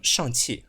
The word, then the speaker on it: Shang: Anyways, I'll go with the Chinese pronunciation for this one. Shang, right?